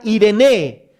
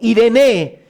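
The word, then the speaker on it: εἰρήνη: Ahora, la palabra paz viene de una palabra griega que se pronuncia Irene o Irene.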